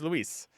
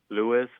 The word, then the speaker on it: Luis: front of the staff do you know why they always do Lewis I mean there's for me when I hear Lewis I'm like there's no o in my name do you know or